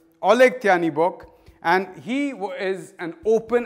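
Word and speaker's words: Oleh Tyahnybok: who, I'm going to look up the exact pronunciation because I don't want to get this wrong. This man's name is Oleg Tyanibok. Oleg Tyanibok, and he is an open anti-Semite and leader of the neo-Nazi party Svoboda.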